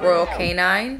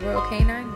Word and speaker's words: Royal Canin: Like the food she's eating right now is Nutrisource, but I'm trying to convert her to Royal Canine. I think that's how you say it. Royal Canine, Royal Canin.